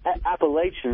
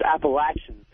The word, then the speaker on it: Appalachian: I want to talk to Patrice about him cracking on Appalachian State. And it's not Appalachian, it's Appalachian.